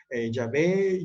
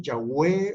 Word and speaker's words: Yahweh: Yahvé, Yahweh o Jehová es una pronunciación correcta.